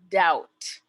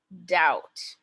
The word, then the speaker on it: doubt: a better job so which letter is silent and the word is doubt doubt be it's important to be